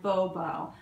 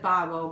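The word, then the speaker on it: Bobeau: and it's by B curvy a collection by Bobo I think I said babo before but it's b o b e auau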